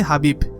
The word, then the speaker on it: Khabib: কেউ কোনদিন হারাতে পারেনি রাশিয়ান ভাষায় তার নামের উচ্চারণ খাবি শোনা গেলেও তার নামের বাংলা উচ্চারণ হবে হাবিব খাবি শুধুমাত্র মিক্সড মার্শাল